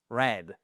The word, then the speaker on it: read: dit pas readed mais ça se prononce red comme la couleur rouge, red.